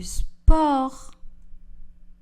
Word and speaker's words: sport: Le S et le T sont des lettres muettes. Je fais du sport.